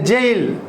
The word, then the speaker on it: gaol: GAOL, how to pronounce? So I bet you can't. So it's a jail.